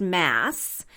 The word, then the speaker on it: Mads: and like I said the D is silent so his name is pronounced mass and mass is a